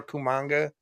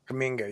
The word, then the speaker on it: Kuminga: Him or Kumanga or whatever, whatever the hell you say his name. Kuminga, yeah.